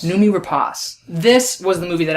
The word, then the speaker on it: Noomi Rapace: I'm going to continue mispronouncing it. How do you say it? Noomi Rapace. Noomi Rapace.